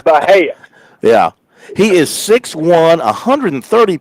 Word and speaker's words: Bhatia: You didn't butcher it, but going by his pronunciation on his bio, it's Akshay Bhatia. The T is pronounced.